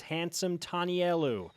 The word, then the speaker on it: Handsome Tanielu: lineman out of Snow College his name is hansome telu handsome welcome to Studio B thank you did I pronounce that correctly yes sir okay I think